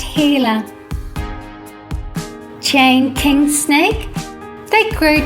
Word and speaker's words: Gila: lizards in the world it is spelled g i l a but pronounced "heela" Chain King Snake they